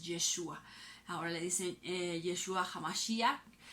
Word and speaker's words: Yeshua: Jesucristo, la pronunciación original en hebreo cuando el Señor Jesús anduvo aquí en esa época en la tierra es Yeshua.